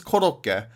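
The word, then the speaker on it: コロッケ: In Japanese it's korokke, but I don't know how you properly pronounce it.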